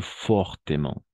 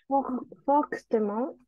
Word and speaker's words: fortement: Fortement, et se prononce la ultime NT. Fortement. Mon. Esto siempre va a ser mon. Y sí. Este MENT, ahí sí vamos a pronunciar mon. ¿Por qué? Porque es un adverbio.